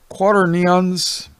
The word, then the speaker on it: quaternion: delivered him to four quaternions of soldiers to keep him." Oh boy, how do you pronounce that? Okay, it's quaternion. At least that's what Noah Webster, you know, the Webster dictionary guy.